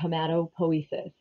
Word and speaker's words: hematopoiesis: marrow which is um blood cell formation or hematopoiesis um that is how you say that word